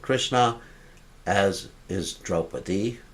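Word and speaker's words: Kṛṣṇā: Arjuna is sometimes called Krishna, as is Draupadi. Draupadi is called Krishna, with a long A at the end.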